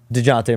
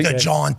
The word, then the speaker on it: DeJounte: When they went to try to get DeJounte Murray, when you try to go get Zach LaVine. Is that how that's pronounced? DeJounte Murray.